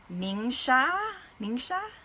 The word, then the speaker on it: NingXia: So yeah, every day, and I think it's actually pronounced NingXia, right? But I just say Ninja because it's just easier.